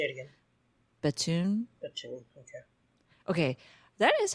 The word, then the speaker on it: Bethune: I've read it, but I don't know how it's pronounced. So I'm glad Batoon is how they said it.